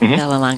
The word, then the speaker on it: Vallelonga: Vallelonga.